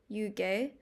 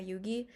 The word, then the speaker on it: Yugi: um long story but it's technically pronounced like yugay but the because we were in America I was told that it sounded really odd um when I was younger so I've just been going by Yugi and although I am